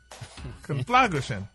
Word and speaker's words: conflagration: Gray, not gra. Oh. It's gray.